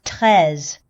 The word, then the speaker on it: Treize: Treize is the word for 13 in French, so should be pronounced Treize, but anime doesn't care about that kind of stuff.